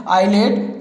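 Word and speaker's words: islet: Example के रूप में आप यहाँ देख सकते हैं आइलैंड, आइलेट, आइल। यहाँ पर आपको देख लीजिए एस का कोई भी उच्चारण नहीं हो रहा है तो यहाँ पर आपका क्या हो गया? एस साइलेंस हो गया।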